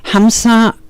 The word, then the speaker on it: Hamsa: Hamsa, I'm pronouncing that in English, is actually a version of the mantra. I'll do it the way we do it with the breath. Hung. So ham, so hung.